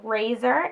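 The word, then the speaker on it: Rayzor: stick in the shade razor it's a mat one and it is the one that was in collaboration with its my ray ray so it's spelled razor are a ye zi o are it's the color that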